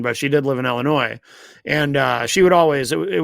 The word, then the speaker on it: Illinois: Now she lives in Kenosha, Wisconsin, but she did live in Illinois, and she would always it would always bother her when she would hear people say Illinois because the S is silent.